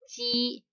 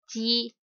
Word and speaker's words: 雞: And for this word, we pronounce as ji, ji.